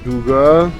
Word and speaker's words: Dougga: بعدی رسیدیم به دوگا و اینم که ق سه نقطه که گ تلفظ میشه چون عربا ندارن ولی اسمش از عرب نیومده اینجوری نوشته دوگه ببینید